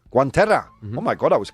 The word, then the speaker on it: guantera: Guantera. Guantera.